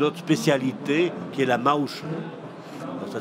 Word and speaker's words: Maouche: un autre une autre spécialité qui est la Maouche ça s'écrit M a o u C H e la Maouche la Maouche ça c'est dans la montagne ARD